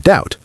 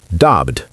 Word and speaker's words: doubt: Same with the word doubt. The B in doubt is also silent. Doubt, not daubed.